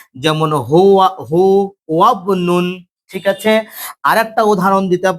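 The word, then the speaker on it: هو ابن: যদি ইবনুন ইবনাতুন ইসমুনের আগে যদি কোনো শব্দ থাকে, তাহলে আলিফটা হামজা ওয়াসালটা পড়ে যাবে, বায়ের সঙ্গে মিলে উচ্চারণ হবে, যেমন হুয়া হু ওয়াবনুন।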